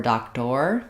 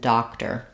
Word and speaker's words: doctor: Letters OR don't say or there, not mayor or doctor, but mayor and doctor. That's because those letters are in the unstressed syllable.